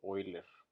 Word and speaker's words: Euler: Vamos a ver el tema que es método de Euler o de Euler, como lo quieren pronunciar, pero como es alemán se dice Euler.